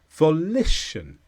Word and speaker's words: volition: this is a noun the stress is on lit volition and this means someone's